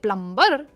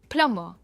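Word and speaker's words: plumber: लोग इसे कहते हैं प्लमबर पर यह है प्लमर। प्लमर। इसमें आर और बी हम प्रोनाउंस नहीं करते।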